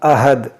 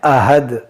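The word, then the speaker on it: أحد: हमें इस 'हा' का उच्चारण कोमलता से 'अहद' करना चाहिए, लेकिन लोग क्या उच्चारण करते हैं? 'अहद'. वे इसे 'हे' (दो आंखों वाले हा) के साथ पढ़ते हैं।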